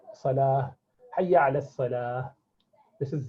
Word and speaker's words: salah: it comes to salah and zakah we say salat and zakat that's that's not correct we should say salah yeah this is zakah okay so that is